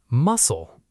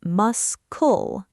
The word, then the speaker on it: muscle: Muscle. The C is quiet. Correct. Don't say mus-cul. Just muscle, like the sea animal. Yes, it sounds exactly like a sea muscle.